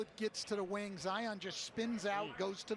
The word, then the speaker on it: Zion: Zion, like Mount Zion, strong, powerful.